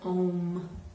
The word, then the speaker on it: Om: we're going to work with the sound of ohm oh and sometimes spelled AUM but still pronounced own so just on one breath I